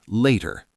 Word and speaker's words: later: Listen for the soft D in later.